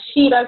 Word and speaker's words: Gira: una sesión espiritista, una shira que se le llama, ¿Cómo se llama? Una shira umbanda, que es una sesión. Shira Umbanda. Se escribe G de gato I-R-A.